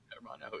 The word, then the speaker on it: Hermano: Alongside we got is it Armano? I can't I haven't looked at the Dual Lipa translation this week. How do you say brother in Spanish? Armano. How do you say it? Hermano is fine.